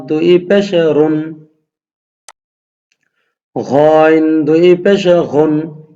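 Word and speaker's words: غ: ঘইন দুই পেশে ঘুন, এইটা হলো ঘইন, এটা হলকে শেষ ভাগ থেকে উচ্চারণ হবে।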